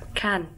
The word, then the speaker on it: Cannes: So you're pronouncing it without the S, and it's more like phonetically pronouncing K-A-N. Can like a tin can.